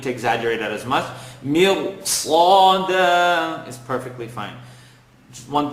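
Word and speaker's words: ص: Sada, totally wrong. Sada, you're not pronouncing it with it, giving it its right. So Sad is heavy, second part of the tongue. Slaw, dal, tip of the tongue behind the top two teeth. Da, Sad.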